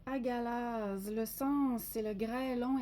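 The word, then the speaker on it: Hagalaz: Alors, elle se prononce agalaz.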